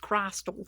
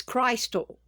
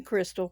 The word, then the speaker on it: Christal: Yes, my name is actually pronounced Christal, for those of you that don't know how to pronounce it. It's Christal. But ever since I was a little girl, everybody called me Crystal, because nobody could pronounce